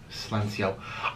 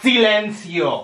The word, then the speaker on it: silencio: i'm smelly and dirty slenzio i was just don't you see let's heal me i can slit you all i want you're not even saying it right it's silencio oh blah blah blah